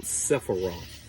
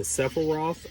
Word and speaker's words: Sephiroth: And these 10 emanations are called Sephiroth. All right, the Sephiroth or Sephiroth, you'll hear it pronounced either way.